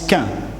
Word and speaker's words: chien: Mais un petit chien, en Normandie, on prononce quin, un petit freluquet de quin qui jappe.